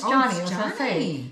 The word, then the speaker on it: Joni: No it's Johnny. So when I first saw this name, it's spelled J O N I. And I'm like, "Oh, Johnny. Johnny."